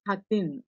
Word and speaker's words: khatin: So, generally the pronunciation for khatir is khatin.